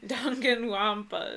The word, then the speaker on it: Danganronpa: Danganronpa is how you say it.